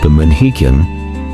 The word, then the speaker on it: Pamanhikan: Pamanhikan, pronounced Pamanhikan, represents a critical threshold in Filipino relationships, a